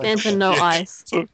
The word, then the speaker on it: Fanta No Ice: say it all as one word. Fanta No Ice.